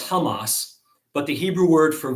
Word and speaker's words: Hamas: who hear me pronounce hamas hear me pronounce it technically incorrectly you're supposed to pronounce it as hamas but the hebrew word